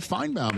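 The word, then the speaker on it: Finebaum: uh the host of the Paul Finebomb show, Paul Finebomb here on the Rich.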